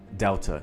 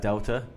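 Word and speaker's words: Δέλτα: For example, delta. You would think that delta is the D sound, but it's actually a TH. Delta. Something to note.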